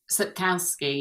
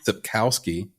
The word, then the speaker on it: Sapkowski: Is based on the popular fantasy saga by, how do you pronounce this author's name? Is it Andrzej Sapkowski? Sapkowski, yeah. Sapkowski, thank you.